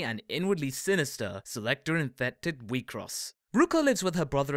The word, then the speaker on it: WIXOSS: the popular card game we cross pronounced we cross to try and get